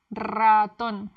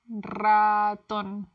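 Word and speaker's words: ratón: Raton. Raton. Oho. The double er is pronounced with a rolled R. But some words with a single R are also pronounced with the roll R.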